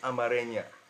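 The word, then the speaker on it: Amharic: so some of you guys from Ethiopia speak Amaria that's how he told me to pronounce it you know so in this video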